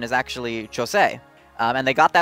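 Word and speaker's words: José: my bad but uh his name is not pronounced Jose that's the Hispanic pronunciation and the pronunciation they've been using since House of Mouse but uh the Brazilian Portuguese pronunciation is actually chose um and they got right in the original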